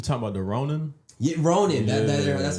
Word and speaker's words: Ronin: Yeah, Ronin. That's how you pronounce it.